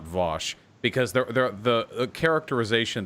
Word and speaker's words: Vaush: i don't know why it's v-a-u-s-h in in english that's always vosh that's f that's how it's pronounced like 98 percent of the time i don't know how